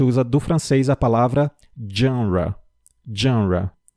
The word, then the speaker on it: genre: Então, a gente usa do francês a palavra genre. Genre. É uma palavra que normalmente acaba sendo pronunciada de forma incorreta, mas saibam que por vir do francês, a gente tem que também utilizar a pronúncia do francês.